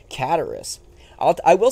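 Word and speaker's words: Cataris: is here in cataracts cataracts that's how you pronounce it it's not guitarist that would be stupid john that'd be a stupid pronunciation it's just kataris i'll i will say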